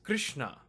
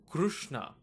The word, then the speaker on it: Krishna: For this reason, in North India, like when you have languages like Hindi and Bengali, they tend to pronounce this letter as ri. So K-R.S.N.A is pronounced as Krishna.